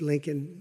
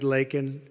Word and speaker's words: Laken: lakan Riley you know Laken very well now and after months of prodding him Biden couldn't pronounce her name he said uh he said Lincoln Lincoln Riley and Lincoln R is